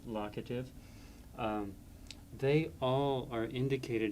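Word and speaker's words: locative: It's pronounced lockative.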